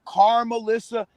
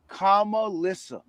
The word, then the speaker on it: Kamalissa: yeah comma listen now people call her car melissa like they have all these different pronunciations but they're the correct pronunciation is kamalissa anything but that you